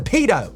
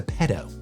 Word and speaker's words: pedo: better and more offensive he's a pedo versus he's a PTO I've not really heard